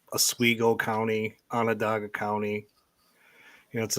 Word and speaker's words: Onondaga: Onondaga. Onondaga.